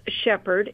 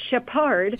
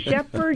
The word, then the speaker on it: Shepherd: United States of America who know how to pronounce Shephard it's not Shepard it is Shephard University they know where it